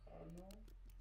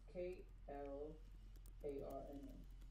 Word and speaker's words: Klarna: How you say cardinal card?